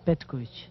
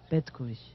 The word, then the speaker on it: Petkovic: Pronunciei o meu nome é Petkovic. Como? É, vou repetir outra vez e não mais, Petkovic.